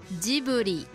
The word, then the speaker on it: Ghibli: Normalement, on prononce comme ça. Ghibli.